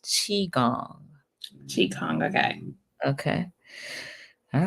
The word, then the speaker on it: qigong: Yes, and she said that it is pronounced Qigong.